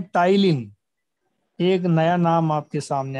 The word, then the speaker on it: ptyalin: पटाइलिन। लेकिन पी तो साइलेंट है यहाँ।